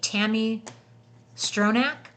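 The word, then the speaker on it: Tami Stronach: Played by, how do you pronounce her name? Tammy Stronach.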